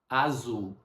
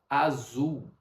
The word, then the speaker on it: azul: Azul. Uma dica de pronúncia para você. A palavra azul termina em L. No português brasileiro, nós não falamos azul. Nós falamos azul. É como se fosse dois u azul.